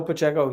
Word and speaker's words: Pacheco: the name for me I thought it was Pacheco but Pacheco that's what it is nope oh yeah no